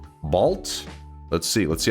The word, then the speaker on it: bald: It's pronounced like balt.